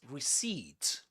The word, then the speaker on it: receipt: You don't say receipt. Reed. And this is not pronounced as a. This is e. Receed. So in a way you can pretend this is spelled like this.